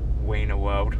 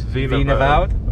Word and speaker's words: Wienerwald: Wiener World. That's where we just were. But because W's are pronounced with a V, it's Wienerwald, right?